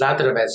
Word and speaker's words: Zadravec: It's actually pronounced Zadravec.